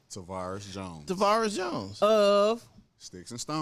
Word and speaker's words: Tavaris: first name for me because I hate to mispronounce people's first name tarus Jones tarus Jones of sticks and stones sticks